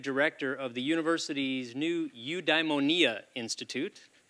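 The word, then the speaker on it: Eudaimonia: of the University's new udonia Institute that is how it is pronounced udonia that is Aristotle's word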